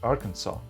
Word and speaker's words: Arkansas: In 1881 the Legislature passed a resolution that the spelling would be Arkansas and the pronunciation was to be "Arkansaw".